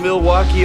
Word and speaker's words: Milwaukee: Do you come to Milwaukee often? actually is pronounced milwauke for the good land.